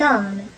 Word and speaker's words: homme: aussi paraît h muet cet homme et h muet mais mais le h